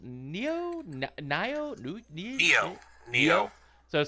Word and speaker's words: Nioh: the play as Rapp has with how's it pronounced new video neo so it sounds like neon or or neo